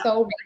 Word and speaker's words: Solreta: Is it Solreta or Solreta? Rita, yeah. So it's Solreta. It's like a little syllable.